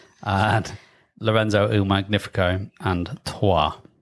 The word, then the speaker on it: Troyes: So the 3 games are Teotihuacan, which is difficult to say, and Lorenzo Il Magnifico, and Trois, or Troyes, if you want to pronounce it differently and wrong.